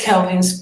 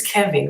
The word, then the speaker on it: Kevin: What is Kelvin's profession? His name is Kevin. Why do people keep pronouncing Kelvin? His name is Kevin, Keven. I think Kelvin is a whole other name.